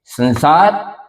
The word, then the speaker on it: संसार: इसी प्रकार से स जब स आगे हो तो सं सार इसमें स त वर्ग से संबंधित है और त थ द ध न जैसा उच्चारण इस अनुस्वार का होगा लिखेंगे संसार बोलेंगे संसार स त वर्ग की जाति में होता और त थ द ध न अनुस्वार का अंतिम न बोल के संसार ऐसे बोलेंगे लिखेंगे संसार